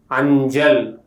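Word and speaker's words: അഞ്ചൽ: When the letter sa occurs after nasal, it pronounces as ja. For examples, anjal, which means post.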